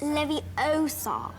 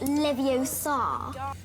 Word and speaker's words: Leviosa: we're saying it wrong it's leviosa not livio okay hang on nightmare